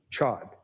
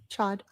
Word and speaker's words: Chod: Jeff Chod. I probably said that last name wrong. Chad.